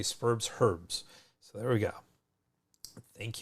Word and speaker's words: Spurbs Herbs: We Americans have a silent H there, which I know very well because I taught this in Australia and they would make fun of me. So Spurbs, it says, we say Spurbs Herbs, but they would say Spurbs Herbs.